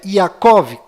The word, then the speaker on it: Yaakov: menos sofreram mudanças foram Maria, que na verdade é Miriam, com M mudo no final, Rei Davi, que na verdade é David, com D mudo no final, e Jacó, que na verdade é Yaakov, com V mudo no final e a letra Y no lugar do J.